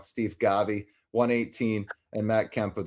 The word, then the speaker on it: Steve Garvey: Max Muncy 133, Eric Karros 130, Ron Cey 123, Steve Garvey what Oh, sorry said it wrong Steve Garvey 118 and Matt Kemp with 117.